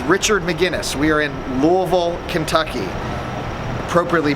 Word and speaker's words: Louisville: I'm with Richard McGinnis we are in Louisville Kentucky appropriately pronounced Louisville not Louisville for everybody we've been through this on the